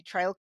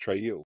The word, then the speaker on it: Traill: yeah it's actually my my name's actually meant to be pronounced tril and is my great